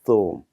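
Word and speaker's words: ثوم: 여기는 th 사운드, 싸 발음입니다. 거기에 우가 붙어 있고 와우가 있기 때문에 우를 길게 읽으라는 표시입니다. 그럼 한번 읽어보면 쏨입니다. 쏨.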